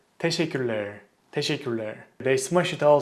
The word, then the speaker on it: teşekkürler: The most common mistake people make with this word is they kind of eat the syllables of this word. So they pronounce it as teşekkürler, teşekkürler, teşekkürler.